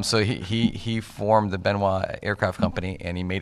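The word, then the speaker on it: Benoist: aircraft that basically flew the world's first commercial benoit is how it's pronounced yes thomas benoit was the actual builder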